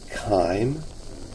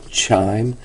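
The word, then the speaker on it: chyme: mixture it's called Kim I know it's very tempting to want to refer to that as chime but uh if you look at the pronunciation guide in the book it's K long I IM Kim and this is just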